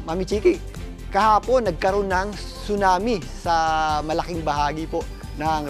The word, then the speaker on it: tsunami: Ang tsunami po ay binibigkas ng tsunami. Silent po yan ha. Hindi po yan tsunami. Hindi po yan tsunami kundi tsunami.